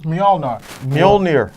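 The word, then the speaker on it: Mjölnir: was the fact that Mjolnir, is that how you pronounce it? Mjolnir. The MJ, the MJ hammer. It's a Y sound.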